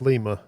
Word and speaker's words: Lima: quite a nice selection I think Lima is pronounced Lima I live 20 miles from there nice um let's get